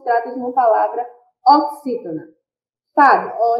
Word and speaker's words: Fábio: Fábio, observe só. Fábio. O fá saiu com maior intensidade e é a penúltima sílaba, então se trata de uma palavra paroxítona.